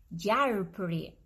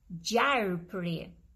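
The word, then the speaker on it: gjarpër: the snake in albanian it's very difficult to pronounce it but is jared pre jar pre again jailbreak this is a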